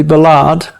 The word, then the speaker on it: Ballard: your last name because i've heard it pronounced balad ballad well americans usually call me billard and uh i'll accept anything well this is going